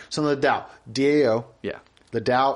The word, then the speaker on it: Tao: So the Dow, DAO.